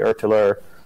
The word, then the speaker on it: ÖtillÖ: It's actually ÖTILLÖ, but we pronounce it ÖTILLÖ because it's the way it looks in English.